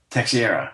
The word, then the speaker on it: Teixeira: the last name - sheriff - sheriff you were a true Yankees fan you would know that because he just pronounced it the same way you pronounce your first baseman's Mark Teixeira but then those [